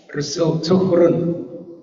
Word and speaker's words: suhṛn: So if you count the number of syllables, Su-hrun, 3. But if there is no dot, you will say Su-hu-run, Rana, something like that. You will pronounce. But it's a visarga, Su-hrun, Rukara. Now in Sanskrit you have this, right? Su-hrun. This rakara is there. Below ha. Huh? Yeah, but it's not a complete syllable. It's a half syllable. Yeah, it's a half syllable. Visarga.